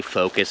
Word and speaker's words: focus: that they just didn't know how to say focus so that's why i'm making this video so that you say focus and not like us or